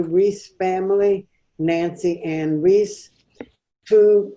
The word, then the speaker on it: Rees: Is that how you pronounce it? Rees? Yes. Mm-hmm. Rees.